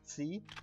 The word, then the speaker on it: scii: and those verbs are Scii and Koni, okay? And I'm kind of drawing out that Scii, the SC sound, because I want to, sorry, my phone just went off.